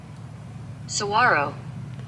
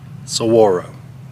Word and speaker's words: Saguaro: Alright, so I brought up the pronunciation. Saguaro. Saguaro. Saguaro.